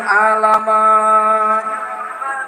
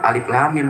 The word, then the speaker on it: Alif Lam Mim: Alamat. Saya bingung juga di Quran mana bacanya alamat. Saya buka, ya Allah bu, alif lam mim keles.